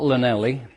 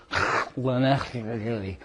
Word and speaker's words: Llanelli: town in South Wales, the pronunciation of which is not Llanelli. The pronunciation is Llanelli. So when the Welsh have a double L in their words, it comes from the back of the throat.